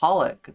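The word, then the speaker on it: xxxHOLiC: anime and games uh it's meant to pronounce be pronounced holic the XXX uh there being like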